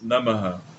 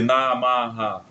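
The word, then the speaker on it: नमः: Apenas temos que ter o cuidado de pronunciarmos os as como breves namah, não fazer namha, sabe?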